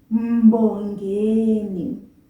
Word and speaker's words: Mbongeni: Mbongeni. Please pay attention to that first syllable. Mbo. Mbo. Two separate sounds. M, the M, and bo of the B-O. Mbongeni. Mbongeni.